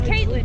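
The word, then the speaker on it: Kaitlyn: It's Caitlin.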